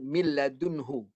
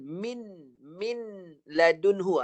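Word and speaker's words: مِن لَّدُنْهُ: Ada perkataan miladunhu. Jadi pendek kata, dengar bacaan saja je lah. Dengar bunyi mil. Jadi jangan baca nun. Min ladunhu. Salah lah. Masuk pada lam terus. Miladunhu.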